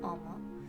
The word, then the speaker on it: 思: have to recall the first kanji is still pronounced omo the second character is the hiragana for e